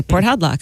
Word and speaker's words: Port Hadlock: Yeah, you would call yourself Jim if you were from Port Haddock. Exactly, Port Hadlock. Hi, Jim. Is that how you pronounce that? Yeah.